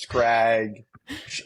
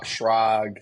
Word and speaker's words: Schrag: My students always get it wrong. It's scrag. They do like Shrog.